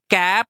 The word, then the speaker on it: cape: तो कैसे पढ़ेंगे इसको तब ये बन जाएगा केप यानी कि ई जो है वो साइलेंट हो जाएगा और इसको पढ़ा कैसे जाएगा? यह साउंड कैसे देगा? ए जो है वो अब लॉन्ग वोवेल साउंड देगा। केप क ए प के समझ आया?